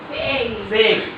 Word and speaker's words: fake: তাহলে আমি খেয়াল করবো যে কোনো ওয়ার্ডের শেষে ই ভাওয়ালটা থাকলে এবং তার আগে একটা কনসোনেন্ট, তারপর আগে একটা এ থাকলে তাহলে এটা ই এর উচ্চারণ হবে, যেমন টেক, মেক, ফেক, ফেস।